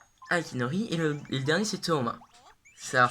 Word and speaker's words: Toma: Aikinori et le dernier c'est Toma. Ça s'écrit Tuma en anglais japonais, donc je vais écrire Toma, T-H-O-M-A. Non, je vais écrire T-O-U-M-A. Non, T-H-O-M-A. T. Comme ça, vous savez que ça se prononce Thomas.